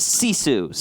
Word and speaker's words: GiFu: familiar with the team gif you give Fuu is pronounced C Sue's just so we're on